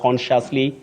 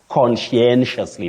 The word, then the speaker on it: conscientiously: find themselves talking about consciously consciously so many versions but the correct pronunciation of that word is conscientiously Betty conscientiously conscientiously we